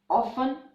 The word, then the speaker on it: often: Also in the words Christmas, often, mortgage, the letter T is silent.